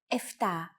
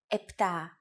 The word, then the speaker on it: επτά: Sometimes, though, especially in casual conversation, Greeks also use efta instead of epta, ochto instead of okto, and enea instead of enea.